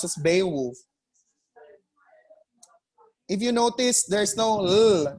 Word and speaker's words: Beowulf: a wolf it's beowulf the little sound may be there but it's not a strong or a dominant dominant consonant sound it's a very subtle